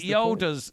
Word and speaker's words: Yaddle: I think this is I like Yaddle's lady. Yaddle. Yaddle. Yeah. Rhymes with saddle.